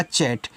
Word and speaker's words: chat: CHAT, अब देखो CH और T के बीच में A है तो CH से आपका च हो गया, A का उच्चारण ऐ की मात्रा और T से आपका टा चैट।